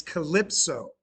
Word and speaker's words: Calypso: No, that that it's calypso. Calypso. You mis you mispron. You've you've been mispronouncing it for a long time, man.